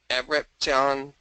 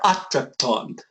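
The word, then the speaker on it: ἄτρεπτον: Te prorismene pra ionion enidea pontas es taxon para monon art at re abrepton thing. Good try, atrepton, right? Atrepton. So, yeah, and you added an extra syllable in ionon, but that's all right.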